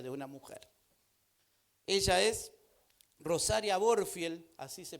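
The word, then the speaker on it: Rosaria Butterfield: Ella es Rosaria Borfield, así se pronuncia su nombre, y esta es su historia, se la voy a leer.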